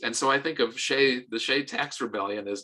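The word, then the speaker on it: Hsieh: T S A I E H, I think, but pronounced Shay.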